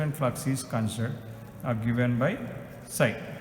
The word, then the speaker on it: psi: Okay, so you can pronounce it as psi.